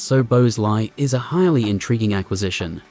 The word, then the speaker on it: Szoboszlai: Liverpool's purchase of Dominik Szoboszlai, pronounced So-bos-lai, is a highly intriguing acquisition.